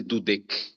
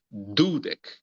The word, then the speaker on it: dudek: forte a penúltima sílaba Então nós não vamos dizer dudc porque você disser dudc você tá acentuando de que seria a última sílaba nós vamos pensar se lembrar de de de tornar mais forte a sílaba anterior que é a penúltima que é do que é da dezena então dudek e não duec isso a gente tem